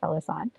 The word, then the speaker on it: Felassan: someone wants to know how to pronounce felassan so i'm just going to say fellas on i said um what